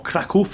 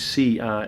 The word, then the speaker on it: Kraków: some videos of Krakow, or Kraków as we say in Polish, it's pronounced, it's actually a K, they spell it Krakow, and the O's got like a kreska on the O. But obviously the English version is Kracow.